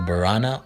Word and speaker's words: Borana: Borana is pronounced Boran, with the final vowel being silent, and refers to the people of their language and also means friend or kind person.